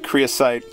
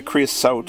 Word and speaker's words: creosote: and I did mention the Korea site of the quarry the creosote I think I've been saying it wrong the creosote buildup in